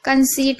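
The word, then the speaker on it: conceit: कंसीट में भी आप देख रहे हैं सी ओ एन सी ई आई, सी के बाद ई आई है, तो यहाँ पर भी ई पढ़ रहे हैं और उसके बाद टी है।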